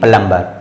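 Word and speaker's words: plumber: तुरंत बाद दी है तो बीच भड़की साइलेंट होगा और इसको करेंगे प्लंबर ठीक है तो इस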